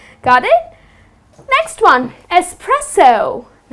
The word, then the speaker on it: espresso: please don't end up saying expresso the correct pronunciation is Espresso .